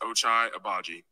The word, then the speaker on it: Ochai Agbaji: People that don't know my name and how to say it, it's pronounced Ochai Agbaji.